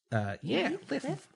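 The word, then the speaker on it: Lif: Liv. Yeah, his name is spelled L-I-F.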